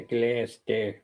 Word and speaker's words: Gloucester: Graham is in Glouester, I think is how you pronounce it. Yeah, Glaster. Well, we say it glaster.